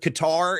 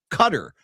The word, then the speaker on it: Qatar: I do think that's what's going on with Qatar is that it's just people say Qatar, but that I I think I'm pretty sure it's actually pronounced Cutter. Yeah, there's P1 Chuck right there. Cutter.